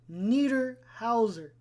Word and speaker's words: Niederhauser: Niederhauser. That's how you say it. Niederhauser.